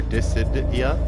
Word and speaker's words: Dissidia: Did or dissidia dissidia dissidia.